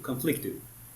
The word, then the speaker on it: Conflictu: Like conflict, but with a U, Conflictu, by a Brazilian researcher and a Christian guy called Thales Moura.